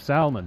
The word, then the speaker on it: salmon: so she corrected her the proper pronunciation of salmon yeah and what is the L doing in Salmon I don't know I